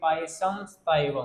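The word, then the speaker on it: Pisum sativum: पाइसम स्टाइवम। क्या बोलोगे? पाइसम, पाइसम स्टाइवम। मैं इसमें ऐसे हिंदी में लिख रहा हूँ ताकि आप इसको प्रोनाउंसिएशन कर पाओ, है ना, प्रोनाउंसिएशन कर पाओ इसका।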